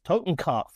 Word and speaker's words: Totenkopf: I may be mispronouncing this, so feel free to correct me, but I believe it's called Totenkopf. Yes, Totenkopf, which is a German term for death's head,